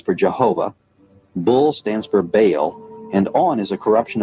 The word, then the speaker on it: Baal: Bell, spelled B-E-L, is usually pronounced Bell, but both Strong in his Hebrew dictionary and Fariabin in his prefer to say Baal. The word is probably the contracted form of some other Hebrew word, commonly pronounced Baal and spelled B-A-A-L.